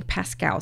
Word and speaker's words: Paschal: Now, the name is spelled Paschal. So I believe that is sounding Pascal. So please bear with me if that is not the correct way to pronounce the name, but that's how I'm going to pronounce it.